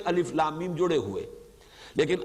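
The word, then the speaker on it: الم: है लिखे हुए हैं अलिफ लम एमआईएम जोड़े हुए लेकिन आलम नहीं पढ़ सकते इसको अलिफ लम एमआईएम जुड़े हुए लिखे हुए मिलेंगे आपको कुरान में लेकिन हां अलग अलग पढ़े जाएंगे प्रोनाउंस किया जाता है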